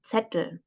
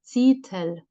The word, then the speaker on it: Zettel: So the one that you write after a stressed and closed syllable with a short vowel. So Zettel. And here you can see that the person is not getting that it is a short vowel and not the long vowel.